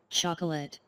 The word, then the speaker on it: chocolate: Chocolate. Chocolate. Chocolate. Chữ cơ ấy, ở giữa đọc lướt luôn ha, đọc nhỏ thôi.